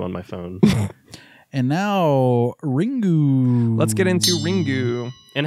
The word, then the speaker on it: Ringu: pronounces the word as ringu but in fact Japanese words must end with either a vowel or an N so the U should be pronounced as a softly vocalized schwa and I don't don't